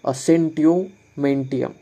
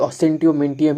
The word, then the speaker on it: Assentio mentium: इसका प्रोनाउंसिएशन ऐसा है कुछ, असेंटियोमेंटियम।